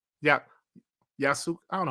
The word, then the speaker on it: Yasuke: Yeah, Yasuke.